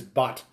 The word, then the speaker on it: Bhut: all characters right is butt burns or otherwise pronounced as butt so g'day uh monty